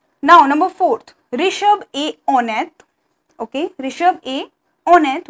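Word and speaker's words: honnête: number four rishabh a on it okay rishab a on it which means we have we do not pronounce h h is a silent here so rishab a on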